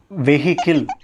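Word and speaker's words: vehicle: வெஹிக்கிள். இட்ஸ் நாட் வெஹிக்கிள், இட்ஸ் வெஹிக்கிள். வெஹிக்கிள். H sound வராது. H silent. வெஹிக்கிள்.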